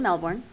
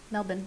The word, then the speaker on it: Melbourne: she was born in Sydney but lived in Melbourne Melbourne sorry Melbourne that's how you're supposed to pronounce it really the Aussies pronounce it doesn't